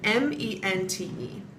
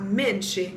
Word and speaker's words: mente: When you have a word that ends in M-E-N-T-E, some of my resources have been saying that it's pronounced mente, exactamente. But what I've been told by word of mouth from like my teacher and from some other people I've talked to is that you don't pronounce that last E. So it's not minche, it's minch.